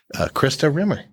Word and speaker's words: Christa Rimmer: 14 we thought we'd have a special guest Krista Rimmer did I say your name right oh my